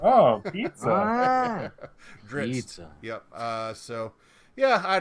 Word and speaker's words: Drizzt: It's like isn't, only with double Z's instead. It makes sense. But I pronounce the double Z's as in pizza. So. Oh, pizza. Drizzt.